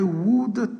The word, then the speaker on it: would: Donc, même si le verbe, on écrit would, on ne prononce pas le L qui est ici. I would take.